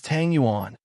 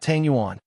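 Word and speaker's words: tangyuan: Chung Chumo glared and said angrily, "It's Tang Yuan, not Tanguan.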